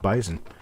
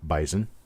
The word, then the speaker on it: bison: the pronunciation of Bison as more of a z sound than an S sound in the middle of the word and no it's not